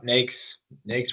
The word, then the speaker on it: NAICS: Yeah, NAICS rhymes with snakes, shakes, bakes, etc.